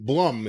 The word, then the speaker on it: Blum: you could pronounce it Blum. From Blumhouse. Yeah, I mean, it's a Jewish name, so I've seen it a lot in my life, but you could pronounce it two different ways, so you never know how someone pronounces it.